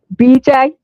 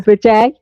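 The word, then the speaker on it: bidet: So now she's discovered she can wash her hair with a bday or a bedet. Is that the way you Americans say them? A bedet. We say a bday cuz I was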